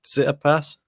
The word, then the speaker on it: Tsitsipas: Tsitsipas.